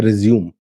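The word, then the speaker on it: résumé: ही नहीं, ये है रिज़्यूम, स्पेलिंग वही है। जब ये बायोडाटा टाइप के लिए इस्तेमाल होता है तो रिज़्यूमे बोलते हैं, बट काम शुरू करते टाइम इसका जो उच्चारण है वो होता है रिज़्यूम।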